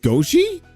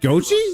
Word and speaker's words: gotchi: Goi. It's pronounced Gochi.